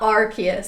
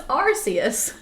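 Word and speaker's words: Arceus: is the worst yeah it's not iist it's archus or it's not archus it's arus Pokemon Pokemon Pokemon as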